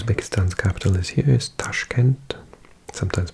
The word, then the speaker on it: Tashkent: I'm talking about usbekistan capital is here is Tashkent sometimes pronounced toshkent and then we've got these two little countries